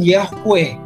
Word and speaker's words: Yahweh: Contohnya begini, kenapa di dalam bahasa Ibrani ditulis YHWH? atau diucapkan Yahweh.